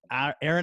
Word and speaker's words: Aeryon: holistic health coach welcome Erin I have some people who just call me and Erin is spelled a ery Oh n which another so you're